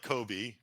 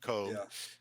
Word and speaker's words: Koeb: e b yeah um not like Kobe but coob um and then I